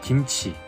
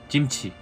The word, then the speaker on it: 김치: 음식, Pour finir, pour dire kimchi à Séoul, on dit 김치, et à Busan, on prononce. 찜치.